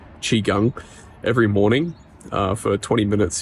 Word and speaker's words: Qigong: to do exercises like Qigong Qigong Qigong it's actually the right pronunciation Qigong every morning for 20